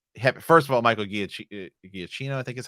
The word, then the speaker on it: Giacchino: First of all, Michael Giacchino, I think is how you say his name, Mhm.